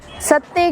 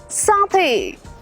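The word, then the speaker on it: satay: SETAY, सत्ते कहते हैं, सैते कहते हैं, मगर वो होता है चिकन साथे, फिश साथे।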